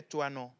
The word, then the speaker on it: Toinon: calendrier grégorien les Émélines, les Antoinettes et les Toinons. Toi, non. Toinons. Ça s'écrit C'est assez comment?